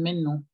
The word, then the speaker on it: maintenant: ¿Puedes repetir otra vez la pronunciación de maintenant? ¿Cómo es? Maintenant. Maintenant. Pues, hay algunos que lo pronuncian men. Dicen men no. Men no. Entonces, men no sería. Men no. Por regla sería correcto men no.